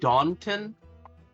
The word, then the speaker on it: Dawnton: where rats no jax you said dawnton as in yes dawn it is spelled d-a-w-n-t-o-n yes oh like is that like the town i was thinking like like it was just like down not dawn and down happy yeah